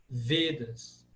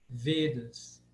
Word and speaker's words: Vedas: O E se enquadra nas vogais pesadas. Lembra que eu falei? Todos os ditongos, E, A, I, O, AU, eles são pesados. Então, naturalmente, ele se torna Vedas. Vedas. A tônica está no V.